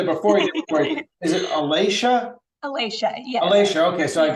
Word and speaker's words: Alasha: the way I want to make sure I'm pronouncing your name right I should have said it before is it Alicia Alicia yeah Alicia okay so I've got it right